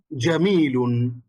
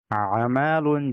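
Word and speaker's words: جميل: আসসালামু আলাইকুম ওরাহমাতুল্লাহও পড়ে থাকেন দেখি জামিললাম জামিল আপনি কিন্তু লামে টান দিচ্ছেন হবে না হরকত উচ্চারণ তাড়াতাড়ি করতে হয় লাম আলামিন মুন আলামুন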